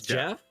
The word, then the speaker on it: Geoff: you to join us let's pronounce jeff just yeah that's jeff yeah really yeah why